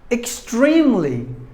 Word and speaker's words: extremely: And the final word, word number 10, extremely. Extremely. It's an adverb. Extremely. There are 3 syllables in this word, and we have to stress the second syllable, extremely, meaning very.